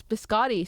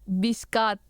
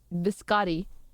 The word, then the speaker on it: biscotti: Google says it's Biscotti. So, I pronounce it very wrong. Bis Biscat. Biscotti. Hold on. Wait, wait, wait, wait, wait. But someone posted a video that says how to pronounce it correctly.